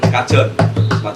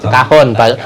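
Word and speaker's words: cajón: Tapi yang umum adalah gitar, kemudian pakai yang Kajon. kahon, bacanya kahon pakai. Oh, iya. kahon. Bukan kajon.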